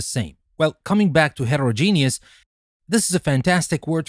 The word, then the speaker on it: heterogeneous: But for heterero we pronounce the rest genius and for homo we pronounce the rest genus. So we say heterogeneous and homogeneous.